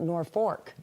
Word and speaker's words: Norfolk: In in Nebraska, it's spelled the same way, but you pronounce it Norfork. That's right. The L is like an R.